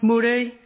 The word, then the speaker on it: Murray: y but pronounced the thing well Murray it's pronounced muray where I'm from God BBC never used to